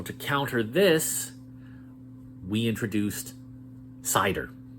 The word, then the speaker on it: CIDR: counter this we introduced cider sometimes it's pronounced Cedar but it's cidr classless interdomain routing with cider you're not